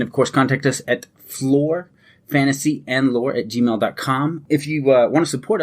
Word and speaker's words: Flore: fantasy M lore and always floor is spelled f-l-o-r-e that's lore with an F in the beginning if you want to